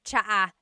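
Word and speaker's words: tsa: And it's spelled T S A. Cha. Cha. That's such a Tagalog spelling. I love it. There's the ts sound and then the double vowel uh pronunciation.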